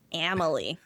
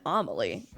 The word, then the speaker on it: Amélie: the time, but especially the UK for Amily. Amily choices. They didn't even say Amily in like the American Broadway. They still said Amaly.